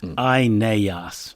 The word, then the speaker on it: Aeneas: His name in Latin, and indeed in Greek, consists of three long syllables. Aeneas.